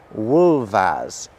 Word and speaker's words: wolves: Wolf and wolves and they're pronounced wolf and wolves do you hear how the f is making a very very different sound the second time round and you can see